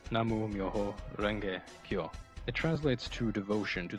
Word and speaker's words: Namu Myoho Renge Kyo: The chant is the Daimoku, pronounced Namu Myoho Renge Kyo.